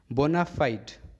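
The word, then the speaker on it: bona fide: Next देखते हैं बोनाफाइड। ये जो वर्ड है FIDE फाइड, इसे फिडे पढ़ते हैं ऐसे, लेकिन ये जब इस स्पेलिंग के साथ जुड़ा हुआ है तो यहाँ पे फाइड पढ़ेंगे, बोनाफाइड।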